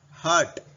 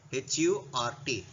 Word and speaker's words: hurt: Okay, here you should remember this is hurt, H-U-R-T. It's not hurt. R is silent here. Hurt, like that small sound. R should not be stressed here. A slight pronunciation.